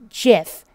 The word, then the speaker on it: GIF: I don't care for G stands for graphics okay there's other words that start with a G I like giraffe that have a J sound that have a soft G that's still weird to me that that's a soft G that just sounds harder than gah but I don't know how they name that regardless the format is called jiff get it right okay there's a